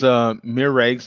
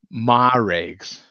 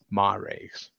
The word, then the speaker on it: Maregs: So he says, Miregs, that is music. Yeah, I'm sorry. Yeah, the last one, All Star, is the best quality, but the other two are okayish. Yeah, absolutely, man. It's pronounced Maregs. Maregs.